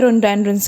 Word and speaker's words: rhododendrons: Toll clumps of रेंडोरेंस, एक तरह का ये फूल होता है, रोनडेंड्रंस, जिसे बेसिकली प्रोनाउंस किया जाता है रोनडेंड्रंस की तरह.